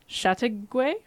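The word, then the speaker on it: Châteauguay: living with her children in I came gonna pronounce this wrong Chateauguay ask the shrimp short behind you shot the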